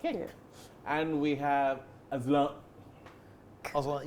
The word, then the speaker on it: Azlan: Azlan, yeah, that's right. That's how you pronounce the name.